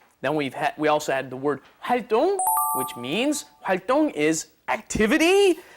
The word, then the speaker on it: 활동: It's spelled 동, but it's actually 똥, like when you go to the bathroom. 똥, okay? 활동.